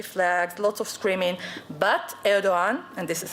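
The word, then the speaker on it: Erdoğan: But Erdogan, and this is how you have to pronounce it, made an important statement that the Turkish people are not against Jews.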